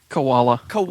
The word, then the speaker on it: Kawula: Is it Kawula? Koala. Like the bear.